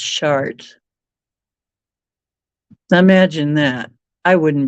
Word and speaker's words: Chartres: short Cathedral you know the one that looks like chartres it's actually pronounced chart now imagine that I